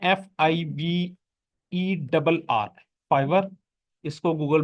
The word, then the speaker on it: Fiverr: इसके स्पेलिंग क्या है? FIVERR, fibre.